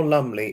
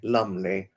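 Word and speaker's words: Lumbly: anybody's heard of the actor Carl Lumley car lumely l u m b l y lumely not uh not Joanna Lumley it's lumle spelled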